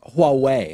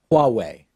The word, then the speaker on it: Huawei: that correctly petting it's think about Yahweh like the other word for God and then just pronounce the first letter a little bit differently I think it's Huawei mmm Huawei Huawei ok the CFO